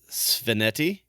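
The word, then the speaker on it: Svaneti: And the fact that the competition will be held in Sveneti, am I pronouncing that right?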